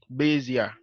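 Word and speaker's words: Bézier: So today we'll be going over the Bezier, the Bezier, the Bezier, the Bezier tool.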